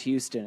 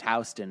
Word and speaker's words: Houston: they mispronounce Houston. It's pronounced Houston, as any New Yorker will tell you.